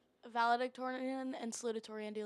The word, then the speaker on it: salutatorian: Ours is like, so it's valedictorian and the other one, I don't know how to pronounce it. Salutatorian.